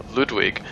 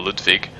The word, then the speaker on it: Ludwig: of a church Hunter Ludwig or ludvig whichever way you want to pronounce it was the first of